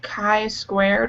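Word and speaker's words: chi-squared: like oh it's because that type of problem is pronounced like Kai squared or something and I think that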